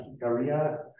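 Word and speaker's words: Jicarilla: I will just say, so I think this is pronounced Hikaria.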